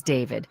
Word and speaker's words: D4VD: Star named David Anthony Burke, better known as David, There we and go. his singer stage name is spelled D4VD.